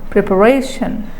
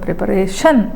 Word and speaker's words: preparation: it acceptable no next if you stress if you put stress on the penultimate syllable preparation if you give stress on the last syllable preparation which is acceptable when you give stress on the syllable before the suffix then it is acceptable